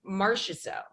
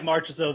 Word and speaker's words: Marchessault: you save some money like maybe teammate jonathan marciaso marches oh yeah you did really good there